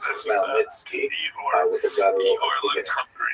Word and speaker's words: Khmelnytsky: It's actually pronounced Khmelnytsky with a guttural Igor at the looks beginning.